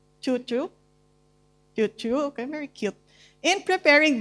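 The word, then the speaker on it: cucu: Okay, so a lola or nenek might involve their apu or, how do you pronounce this? Susu? Chuchu? Chuchu, okay, very cute.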